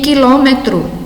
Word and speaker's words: quilômetro: 10 letras e 9 fonemas, porque o QU aqui, por o não ser pronunciado, então, nesse caso, reduz também o número de fonemas. Esse QU apresenta um único som, um único fonema.